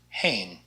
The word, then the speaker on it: heen: Not like the heen. This is just an H, so it's pronounced heen.